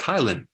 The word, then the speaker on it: ptyalin: There's this enzyme called ptyalin, which the P is silent, but it's pronounced Thailand, which is basically an enzyme called amylase that helps break down the starch.